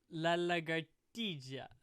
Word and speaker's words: lagartija: It's La Lagartija. Tija. How do you pronounce J's in Spanish? You pronounce J's like H's. So Lagartija.